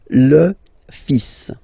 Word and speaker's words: fils: it, and then strangely you pronounce the final S. Le fils. Le fils.